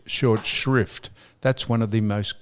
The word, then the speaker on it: short shrift: Not short shift. Short shrift. That's one of the most commonly mispronounced sayings. What's the word? It's not short shift. It's short shrift.